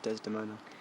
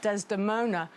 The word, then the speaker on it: Desdemona: love for Desdemona and even the word Desdemona has lots of syllables how many there's the moon four most of our names have two syllables or one four is very unusual he can't it's like